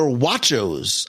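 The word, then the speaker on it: Wachos: to add on they're watchos and you're like mongello you're mispronouncing tatos no I'm not it's a watcho because they are crispy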